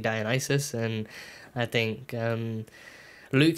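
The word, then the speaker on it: Dionysus: names like like like I thought it was di dionysis but it's actually dionis and I think um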